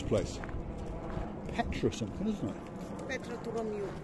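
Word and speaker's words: Petra tou Romiou: Petra Turomiu. How do you say it? Petra Turomiu.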